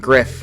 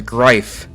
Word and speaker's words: Griff: a Skype user named Griff, who Ghost initially mispronounces as Grife.